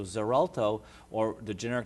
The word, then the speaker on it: Xarelto: Xarelto it's set its its pronounceable to Z sound but it's spelled with x.x a re lto so Xarelto or the generic name